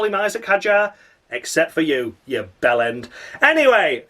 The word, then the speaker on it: Hadjar: up next in Isaac Hudge. Isaac Hudge. That's right, everyone. As per David Cross's illiteracy, it is Isaac Hadjar. That's how you say it.